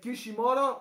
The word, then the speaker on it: Kishimoto: I think, like, Kishimoto, right? That's how I pronounce it.